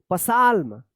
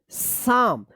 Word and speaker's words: psalm: पसाल्म, पसाल्म गलत हो जाएगा, इसको पढ़ेंगे साम। अब यहाँ पे जो है ना, एल साइलेंट है और यहाँ पे P साइलेंट है।